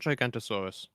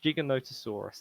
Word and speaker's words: Giganotosaurus: It's not Gigantosaurus. It's Giganotosaurus is how I pronounce it.